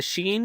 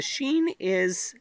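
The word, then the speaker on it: ش: So here we have the sheen, and the sheen makes the sh sound in Arabic. For example, as in ship in English. So that's not too difficult.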